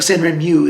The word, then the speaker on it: Sanrenmu: I think Sanrenmu is the best way to say it instead of moo. Moo sounds like a cow.